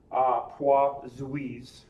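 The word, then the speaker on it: Poiseuille: this is called Toit's Wiis law it's French hua Zhu that's how that's pronounced employees law relates the flow rate so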